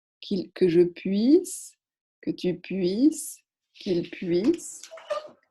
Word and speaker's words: puisse: Faites attention quand vous le prononcez à ne pas oublier le i ici. Que je puisse, que tu puisses, qu'il puisse, que nous puissions, que vous puissiez, qu'il puisse.